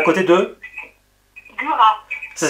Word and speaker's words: Gurat: Alors, ça s'est passé en Charente, à côté de Gurat. À côté de? Gurat. Ça s'écrit comment, Gurat?